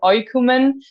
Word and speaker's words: Oïkoumen: dot on the I because in French when you have an O and an I it's not the right way to pronounce the name of our band so that's why there